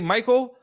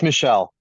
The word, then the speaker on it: Michelle: I'm going to say Michael. Is it Michelle? Is it Mitchell? You got it. It's Michelle. Michelle.